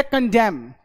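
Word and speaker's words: condemn: डैम बोलते हैं, ये साइलेंट हो गया, इसको प्रोनाउंस नहीं करना आपने, ठीक। ये है कंडेम, कंडेम करना, किसी का निंदा करना, क्रिटिसाइज करना, कंडेम, ये एन साइलेंट।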